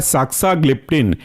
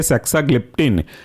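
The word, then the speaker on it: saxagliptin: तीसरा एग्जांपल है साक्साग्लिप्टिन, स्पेलिंग है SAXA, बाकी ग्लिप्टिन GLIPTIN, जुड़ करके बनेंगे साक्साग्लिप्टिन।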